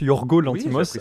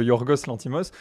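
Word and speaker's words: Yorgos Lanthimos: exactement alors Yorgos lantimos alors qui se prononce Yorgo lantimos à la place de yourorgos l'antimos c'est récemment je crois que c'est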